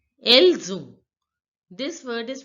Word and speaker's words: Elles ont: See, this word else ends with the consonant S, and the second word on begins with the vowel O. So S will become Z.